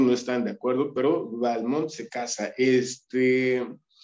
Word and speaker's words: Balmont: le cambia el nombre que dice se debe pronunciar balmón además de esto eh